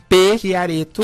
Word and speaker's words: Chiaretto: Chiareto.